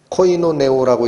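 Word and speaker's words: κοινωνέω: 나누어 갔다라는 이 단어 공급하다라고 번역된 이 단어가 코이노네오라고 읽히는 단어라고 그랬어요. 어디서 많이 듣던 발음이 나오죠.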